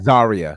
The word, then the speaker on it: Zaria: Is it Oh, Zaria? Zaria.